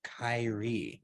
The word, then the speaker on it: Kyri: try to catch them if they're if they pronounce it wrong but it is Kyrie that's right well perfect well thank you for